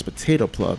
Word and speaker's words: PotatoPleb: You know, I sometimes switch between PotatoPleb and PotatoPleb. I gotta remember it's PotatoPleb. That's how he likes to pronounce it.